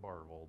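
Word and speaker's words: Barbourville: out of barville Kentucky they spell it Barberville but everybody says it barvel down there right uh about three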